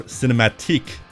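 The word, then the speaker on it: cinématique: for a trilogy of cinematic, or cinematique, graphic adventure games. They're French, you see, you have to pronounce it that way.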